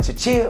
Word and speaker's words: Chuchea: Is it like Chuchea or like? You just said it perfectly.